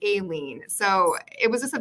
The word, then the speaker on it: Eileen: And that's something I struggle with because, as you know, my name, it looks like it's Eileen, but it's actually Aileen.